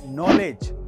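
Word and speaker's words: knowledge: Number one, अगर किसी word में जी से पहले डी आए तो उसमें डी साइलेंट रहता है, जैसे कि ब्रिज, जज, नॉलेज।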